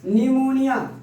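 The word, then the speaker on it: pneumonia: एस टी एन के पहले अगर किसी भी वर्ड में एस टी एन के पहले पी आया हो तो उसका प्रोनाउंसिएशन नहीं होता है। न्यूमोनिया, देखिए न्यूमोनिया, न्यूमोनिया, न्यूमोनिया।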